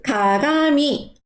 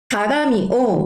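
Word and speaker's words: かがみ: 그래서 거울은 가가미라고 합니다. 가가미, 그러면은 거울을 보지 않습니다는 미마센. 자, 쭉 이어서 발음해 볼게요.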